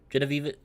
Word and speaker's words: Genevieve: believe it's pronounced as Jenna Vivi? Genevieve.